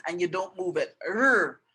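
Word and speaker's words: 日: R, r. You keep it behind your teeth and you just go r as if you want to say the letter R, and that's how you pronounce it.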